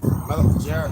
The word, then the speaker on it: Malachi: How you pronounce it? Malachi.